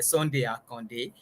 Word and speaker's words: Sunday Akande: it thank you and for my name you pronounce it where Sunday are Conde uh thank you uh